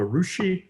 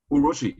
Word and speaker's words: urushi: pieces was what's called a rushi lacquer yeah urushi yeah maybe i pronounced it the wrong way yeah yeah and it's